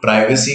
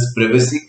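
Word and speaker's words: privacy: उसके अलावा इस चैप्टर में जब हम आगे बढ़ेंगे तो समझेंगे प्रिवेसी एक चीज है जिसको बोलने के लिए लोग प्राइवेसी कहते हैं, बट the correct pronunciation is प्रिवेसी।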